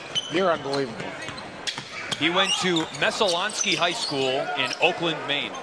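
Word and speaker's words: Messalonskee: He went to Messalonsky High School in Oakland, Maine.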